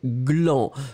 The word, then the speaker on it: gland: Souvenez-vous que ici, la prononciation, c'est vraiment gle, gle, gle. Hein, gland. Le premier, on va faire les deux comme ça. Hein, le A, c'est clan. Que, clan. Le deuxième, c'est gue. Gland, clan et gland.